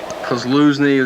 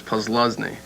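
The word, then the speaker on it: Posluszny: Jackaroo asked the Penn State linebacker, how do you pronounce your name, Paul? Kozluzny, that's real common.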